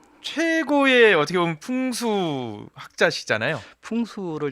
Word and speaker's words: 풍수: 풍수를 잘못 발음하면요, 네. 푼수가 됩니다.